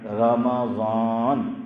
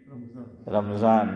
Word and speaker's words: رمضان: رجب و شعبان وبلغنا رمضان، میم پہ کیا بولنا ہے؟ زبر، اور ہم لوگ کیا بولتے ہیں؟ رمضان، میم پہ کیا بولتے ہیں؟ جزم، اور رمضان ہے زبر۔ دلیل دوسرا پارہ سورہ بقرہ، شہر رمضان، میم پہ کیا آیا؟